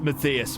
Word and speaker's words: Matthias: It's pronounced Matthias, mate.